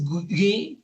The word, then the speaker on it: Guy: mujer que en francés se escribe Alice Guy con Y, y ya nos instruyó nuestra invitada que se pronuncia Guy, entonces hablaremos de ella en cuanto volvamos.